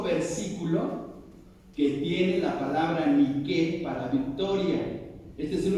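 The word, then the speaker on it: Νίκη: la palabra Nike exactamente viene del griego y no se pronuncian nada se pronuncian de qué así así como está escrito ni que niquef pero el acento la e ni qué y la palabra ni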